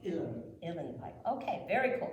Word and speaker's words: Uilleann: Uilleann? Uilleann. U-I-L-E-A-N-N. Say it again. Spell it again, please. U-I-L-E-A-N-N. Pronounced Uilleann.